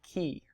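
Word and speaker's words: כִּי: really important conjunction called key that's how you say it key and it's translated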